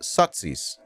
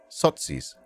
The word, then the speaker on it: Sozis: As an abbreviation of Sozialdemokrat, members were called Sozis. Did you know this? I did not. I did not know this until today. Pronounced Sotsis. Sotsis.